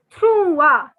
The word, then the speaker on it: trois: 3 is trois. The S is silent again. See, all silent alphabets in the French language. So the S is silent in this word and it is pronounced as trois.